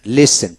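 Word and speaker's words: listen: watch টি উচ্চারিত হবে না এসটি এন লেসন লেসন টি উচ্চারিত হবে না হসন টি উচ্চারিত হবে না এভাবে হবে এখন আসেন silent U এফ এন ফান এফ এন ফান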